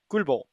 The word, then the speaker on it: Gulbo: So I don't know what he just said, but it's pronounced Gulbo. It's just Gulbo.